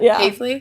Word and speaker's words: Hafele: When I was reading your name, I was like, I'm going to have to ask her how she pronounces that one. Yeah. Hafy.